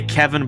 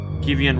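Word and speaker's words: Kievan: been introduced to uh I'm gonna say Kevin but it's spelled k-i-e-v-a-n oh um do you know Kiev no Keith like uh the Ukrainian Capital oh yes yes yeah kivian rust by Persian merchants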